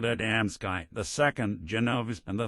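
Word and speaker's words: Adamski: The names you mentioned are well known to us, but you mispronounced them. The first is called Adamsky, the second Genovese, and the third Michalik.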